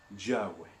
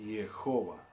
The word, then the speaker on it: Jehová: O bien se puede pronunciar Jehová o se puede pronunciar Yahweh. ¿Ok? Hay algunos que pelean que es de una manera y otros que otra, pero lo cierto es que el nombre se pronuncia Jehová.